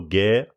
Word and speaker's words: Gair: One of the on YouTube, under Gair. Oh, yes. How do you spell Gair? Like hair.